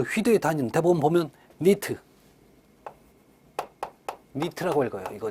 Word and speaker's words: 니트: 그래서 그 휘도의 단위는 대부분 보면 니트라고 읽어요. 이거 니트.